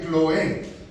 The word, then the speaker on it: Cloé: Pues algunos de la casa de Cloé, nótese el acento en la E, no es Cloé.